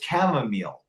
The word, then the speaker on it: chamomile: own acreage his own farm where he grows chamomile acres chamomile chamomile chamomile it's an herb it's